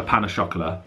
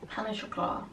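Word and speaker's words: pain au chocolat: Anyway, I really want for breakfast a pan au chocolat. That's not how you say it. How do you say it then? Pan au chocolat.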